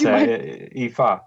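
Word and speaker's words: Ifá: I'm sure you noticed I very carefully avoided attempting the pronunciation of the African tradition you were initiated in. Would Sure. you mind? It's Ifa or Orisha tradition.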